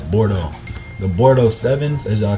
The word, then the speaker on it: Bordeaux: The Bordeaux, it's like, when you spell it, it's spelled Bordeaux, but you pronounce it as Bordeaux.